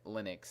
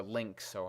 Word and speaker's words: Lynx: wants to go after lin linux and like it's like okay or link so however you pronounce it yeah it's links um and all right